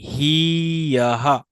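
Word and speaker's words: ह्यः: উচ্চারণটা কি হবে? উচ্চারণটা হবে এই হি ইয়াহা, হি ইয়াহা।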